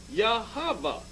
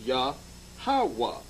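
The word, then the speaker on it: Yahawah: root of a word when we looked up Jehovah there it says Jehovah Hebrew yahovah or more correctly yahava okay so they know the lord's name so then thereby examining it when we go look look at the name Jehovah the three syllable breakup the tetragram the Y the H and the W and H is pronounced yahawa now let we're going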